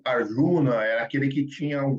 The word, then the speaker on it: Arjuna: Arjuna, Arjuna, Ardina. Tem várias pronunciações, a gente vai falar Arjuna.